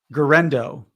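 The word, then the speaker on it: Guerendo: J jardo is that how you say it gendo gendo yeah I I I mentioned him last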